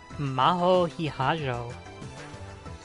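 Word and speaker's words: 比屋定真帆: Hiyajo Maho って読むの? Maho Hiyajo.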